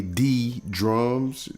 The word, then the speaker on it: D Drums: It's technically D Drums. I know it's a J there, but the J is representative of the just sound in the drums.